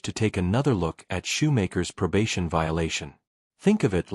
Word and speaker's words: Shoemaker: Am I pronouncing it right? Is it Shoemaker or Shoemaker? Shoemaker.